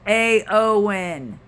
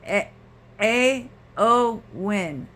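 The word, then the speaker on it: Éowyn: rain from this is a lot storm Ewan pronounced AO win it's pronounced a AO win oh well thank you has been caused by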